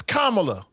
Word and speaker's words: Kamala: You know what it is. It's Kamla.